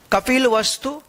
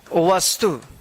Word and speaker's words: कपिलवस्तु: तो चलिए, इसे विस्तार से समझते हैं और देखते हैं कि इनका उच्चारण कैसे किया जाता है। सही? उनमें से एक कपिलवस्तु था। कपिलवस्तु।